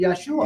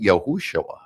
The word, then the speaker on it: Yeshua: above all other names should be Yeshua Yeshua and and it's also some people pronounce it yahushua and there's I know